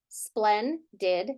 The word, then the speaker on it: splendid: So how would I pronounce this first syllable? Splen, right? Why isn't it spleen? Because it's a closed syllable and it's a short vowel phoneme.